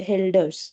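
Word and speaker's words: Hölder: So we have two dots over O. So it is called helders.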